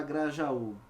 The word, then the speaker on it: Grajaú: Qual é a sílaba tônica da palavra Grajaú? É sim a última, certo? Bom, se é a última, é fato que a palavra é oxítona.